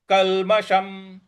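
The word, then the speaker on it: कल्मषम्: ब्रह्म भूतम ब्रह्म भूतम कलमशम कलमशम कलमशम देखिए यहां पे जो षट्कोण वाला श है उसका ऊपर मूर्ध्वा पे जीभ को लगा के और तब श बोलना है तो सही उच्चारण आ जाएगा तो ब्रह्मा भू भूत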